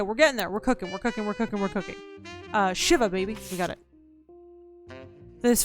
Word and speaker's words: shiva: Pronounced Shiva. It's a Jew thing.